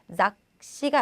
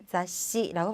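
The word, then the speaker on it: 雑誌: 자, 작시가 아니라 자시, 자시라고 발음해 주시고요.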